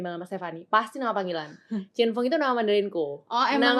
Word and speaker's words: Cinfung: Nama bacanya Chinfung. Iya, Chinfung.